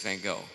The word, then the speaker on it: Van Gogh: And the first person at the top of that list was Vincent Van Gogh. And I understand that the pronunciation, I'm using the Americanized pronunciation, we understand and we